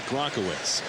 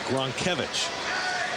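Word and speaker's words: Gronkiewicz: are you sure Ethan Ethan insists that it's not gronowitz it's gron kevich say you're not perfect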